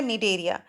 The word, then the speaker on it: Cnidaria: हैं मीडिया आप देखेंगे स्प्रिंग स्टार्ट विद सी लेकिन हम इसको नहीं पड़ती थी साइलेंट है तो यह हो गया नीड एरिया एक्चुअली यह सेंटर में